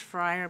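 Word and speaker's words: Feyrer: fa I never quite say that right it's pronounced Fri but it's spelled differ yes yes it's uh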